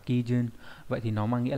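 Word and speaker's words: 基準: Đọc là Kijun.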